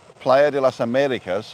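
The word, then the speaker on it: Playa de las Américas: It's like Playa de las Americas has got an accent on the E.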